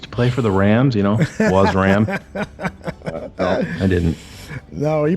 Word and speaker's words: Wasram: Please follow us on Twitter at Bears Barroom and follow at Wasram. W-A-S-R-A-M. Is that how you pronounce it, Wasram?